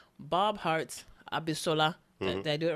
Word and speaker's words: Abishola: coming this fall to CBS called Bob Hart's Abishola.